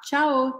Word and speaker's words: tchao: para ser pedir tá tchao tchao e se escreve com o no final tchao então substitui o u por o inclusive é a silaba forte tchao tchao tchao assim que